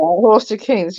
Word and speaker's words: Horsted Keynes: But on the way back, you stopped at Horsted Canes or Horsted Keens, however you Yeah, pronounce that's right. Horsted Keynes. Yeah, that's right.